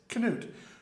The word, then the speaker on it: Knut: Yes, Vikings, who spoke a language where the K is pronounced. Soon after that time, even, there was a king of Norway, Knut. Yes, Knut, who was king of Norway, Denmark, and England.